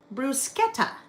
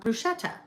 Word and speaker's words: bruschetta: It's called brusqueta. Brusquetta, not bruschetta.